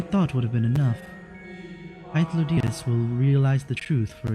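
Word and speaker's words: Hythlodaeus: I only know that my name is Hylotheus. Sorry. Hythlodeus. And that, actually, you wanna know what? I'm gonna get a pronunciation on that.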